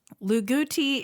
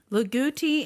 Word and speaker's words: Loogootee: Luguti, Indiana man, required to register his vehicle, a Radio Flyer wagon pulled by his 2 German shepherds named Radio and Flyer.